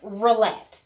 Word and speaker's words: rillettes: Hey, y'all, we are back, and I get a chance to taste this salmon rillette.